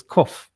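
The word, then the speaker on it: כף: It's the same letter as kaf, or some people like to pronounce it as kof.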